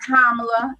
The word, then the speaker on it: Kamala: We got Kamala. That's right. Say her name right, Kama, with the lie.